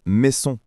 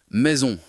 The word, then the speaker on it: maison: un mot comme maison, je suis tenté de dire mais son avec un S sec. Mais en réalité, il faut faire un son de Z. Exactement. Tu touches à un point important. En français, le S entre deux voyelles se prononce comme un Z.